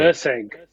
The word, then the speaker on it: Erceg: Uh, how do you pronounce his Erceg. surname? Erceg. Erceg.